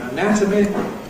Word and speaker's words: anatomy: We have stress on the /æ/ in /əˈnætəmi/, but no stress on the /ə/ so that weakens.